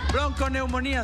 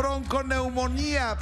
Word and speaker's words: bronconeumonía: Bronconeumonía, señor. Bronconeumonía, BRONCONEUMONIA, acento en la I última, bronconeumonía.